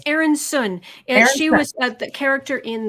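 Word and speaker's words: Aeryn Sun: I want to say Aryan Sun X. Oh God, I'm so sorry. It's Aaron Sun.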